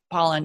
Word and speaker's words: Pollan: If it's kind of by that Michael Pollan, is it Pollan or Poland? I always want to say his name wrong, but Pollan, yeah, from the food rules.